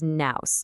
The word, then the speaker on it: nous: The word is nous, spelled n o u s, and pronounced like news.